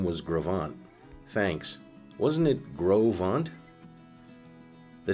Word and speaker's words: Gros Ventre: I know the original name was Gravant.